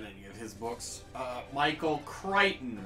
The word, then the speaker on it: Crichton: I've never read any of his books Michael Crichton right that's how it's pronounced yep okay all right here we have